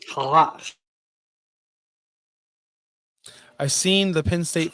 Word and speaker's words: challah: Hala. That's not how you pronounce that, he says. Challah.